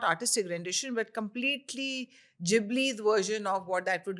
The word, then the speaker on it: Ghibli: I was calling it Ghibli until Kiran told me it's Ghibli. According to Google Pronounce.